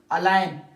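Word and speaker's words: align: रहती है हमारे पास जब भी हमारे पास नवर जी comes before N सो ji remains silent can नॉट be pronounced जैसे हमारे पास है साइन यहां पर मैने टिक किया हुआ है जी क्या है साइलेंट अलाइन जी क्या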